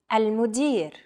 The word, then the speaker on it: المدير: المدير. المدير. Chances are your pronunciation was pretty spot on. The A, L, M, U, D, I, and R sounds are practically identical to English.